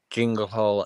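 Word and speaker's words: Chingle Hall: It's called Jingle Hall, and it's spelled CHINGLE.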